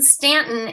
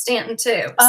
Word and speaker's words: Staunton: they were off to Staunton Virginia am I saying it right well that's I go but they pronounced in Stanton and the lady the relative that they visit pronounced Stanton - okay all right